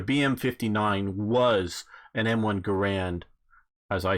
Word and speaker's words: Garand: is becoming more popular which is actually I guess how you pronounce the guys name it's not grand it's either gah rant or guerre written but there's a ga